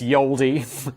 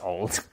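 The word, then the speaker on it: Ye Olde: Uh, and if anyone's comment Simon, it's Yaldi. It's not. That's just how it's written. It's pronounced old.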